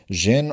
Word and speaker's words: Xen: Yeah, Xen. The Xen are one of the more curious groups of people in the modern world, possessing great power and controlled doses. Xen are capable of maintaining corprial forms for longer